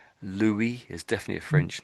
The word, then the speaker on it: Louis: is has to be Louie. Louie. The French always pronounce this name Louie. But and um how do I say this? So sometimes the English will say this name as Louie as Lewis.